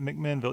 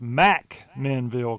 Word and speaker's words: McMinnville: between Murfreesboro and Chattanooga is not McMinnville it's Mack menville come on prices you